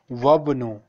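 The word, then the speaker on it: وَابْنُ: अब यहाँ अलिफ से पहले वाव है, इसलिए हम इसको अलिफ को साइलेंट कर देंगे और पढ़ेंगे वबनु वबनु यासिरिन ताजिरुन, इस तरह पढ़ना।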